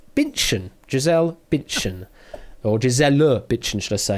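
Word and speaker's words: Bündchen: at the pronunciation because it would normally be bunchen i think if you pronounce it german but uh if you're going the brazilian pronunciation way it's binchan giselle bitchin or giselle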